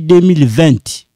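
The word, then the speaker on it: vingt: Here, je suis étudiant depuis 2020. No, you know when you say 20, no, we say 20. Instead of saying 20, no, you don't pronounce that T.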